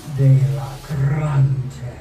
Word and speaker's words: Delagraentiss: So how do you pronounce it correctly? Delagraentiss. Delagraentiss.